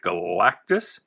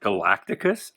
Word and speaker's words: Galactus: fantastic four 173 with galactus when i was a kid i used to add a syllable i used to say it galacticus i don't know why